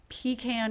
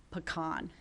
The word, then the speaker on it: pecan: Although there was a study done by the Georgia Pecan Shellers Association, and 70% of Americans say pecan. Do they? Yes. It's a regional thing.